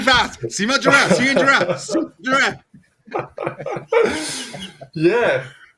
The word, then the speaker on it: Simon Drouin: Simon Drouin. Yeah. Simon Drouin. You say it. Go for it. Your turn. Yeah. Simon Drouin. 3 times really fast. Simon Drouin. Simon Drouin. Simon Drouin.